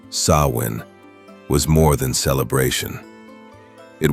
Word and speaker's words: Samhain: The festival of Samhain, pronounced Samhain, was more than celebration.